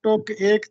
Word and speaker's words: ٹک ایک: تھوڑی دیر کے لیے۔ یہ درست تلفظ اصل میں جو ترکیب تھی وہ ٹک ایک تھی، یعنی ٹک ایک یہ لفظ